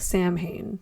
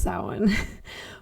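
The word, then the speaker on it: Samhain: It looks like Sam Hayne, but it's pronounced sin.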